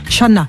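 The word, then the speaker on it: Chanaz: Shana. Shana, on prononce pas le Z.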